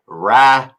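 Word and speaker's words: Rakić: It's Rakic. Yeah, Rakic.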